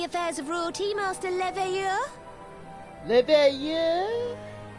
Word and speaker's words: Leveilleur: Leveilleur? That's how you say it.